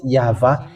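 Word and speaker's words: יהוה: And it's the book of Torah, which says that we call it YAHVAH, and that's how we read it in heaven of heavens. YAHVAH.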